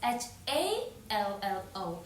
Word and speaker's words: hallo: That is h a l l o hallo.